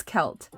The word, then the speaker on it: Celt: were to pronounce them I would pronounce that s but I know it's kelt and I don't know